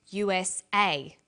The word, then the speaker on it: USA: read-only memory notice that each letter in the abbreviation is pronounced separately but the last letter is pronounced more strongly because it carries the primary stress so we say usa asap abc and tv